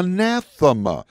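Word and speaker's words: ἀνάθεμα: the Bible says the greek word here is pronounced uh nassima you probably heard that word before do you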